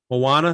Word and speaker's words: Moana: How do you pronounce it? Moana.